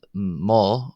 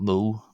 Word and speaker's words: mo: Um you've already seen of course jich uh ma not mo but ma pronounced another short o is uh the gillic